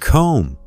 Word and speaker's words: comb: English has many words with silent letters, like knife, silent K, hour, silent H, and comb, silent B.